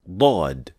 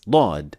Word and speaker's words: ض: First, the makhraj or the articulation point of Daad is so unique that it is exclusively used for this letter and not any other. This is the makhraj of Daad. So the side edges of the tongue are only used in the case of Daad and not any other letter.